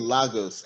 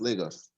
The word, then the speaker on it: Lagos: i'm from nigeria and i really hate the way they pronounce lagos they keep saying lagos and they've been saying that since captain america civil war so it's lagos anyway um america buddy